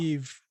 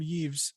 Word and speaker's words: Yves: Ubisoft CEO, I always mispronounce Yves Guillemot. Yves, thank you. I always want to call him Yves, and I'm like, no, that's not.